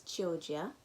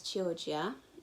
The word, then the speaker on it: Chioggia: It's Chioggia.